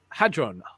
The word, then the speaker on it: hadron: here a physicist at the tokyo metropolitan university hadron it's pronounced hadron hate that's a large hadron collider